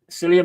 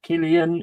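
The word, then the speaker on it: Cillian: Alien, Jaws, you know, Selia Murphy is pronounced as Killian. He's an absolute legend of an actor. Yeah. Yeah, Killian Murphy.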